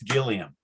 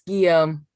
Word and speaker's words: Guillaume: to pronounce the name what's your last name pronounced tim yum that's what i say but others have said no it's gilliam is it guillaume it's guillaume that's all right good that's